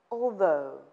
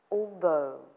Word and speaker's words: although: spite of pronunciation tip although the stress is on the second syllable though although right and though pay